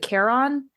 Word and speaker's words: Charon: I'm going to mispronounce this. Is it Charon, the ferryman on the River Styx?